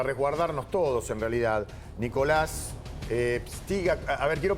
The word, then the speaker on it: Pstyga: Nicolás Pstiga, a ver, quiero pronunciar bien tu nombre.